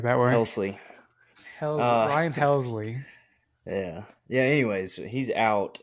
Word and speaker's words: Helsley: has some injuries and then ultimately went to hellishly I think but with hellesly injured you know